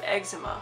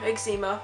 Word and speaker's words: eczema: I have suffered from eczema or eggs Nima whichever way you want to pronounce it it's basically a skin